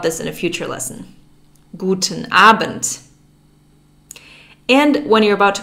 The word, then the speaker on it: Guten Abend: p.m you would say guten abend guten abend there's a d at the end of aband but it's pronounced like a t we'll learn more about this in a future lesson guten abent and when you're about